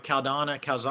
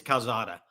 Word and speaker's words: Calzada: Did I pronounce his name right? Calzana? I think it's Calzada. Calzada.